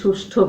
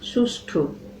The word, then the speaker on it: সুষ্ঠু: এই সুষ্ঠু বিচার ব্যবস্থাপনা, উচ্চারণ ভুল করি, সুষ্ঠু বলি, আমরা লিখেও ফেলি ভুল, সুষ্ঠু। উচ্চারণ হবে সুষ্ঠু।